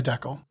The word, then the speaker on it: decal: Inside this house, we say Deckel. Amazing. Wait, what? This decals. Instead of decal.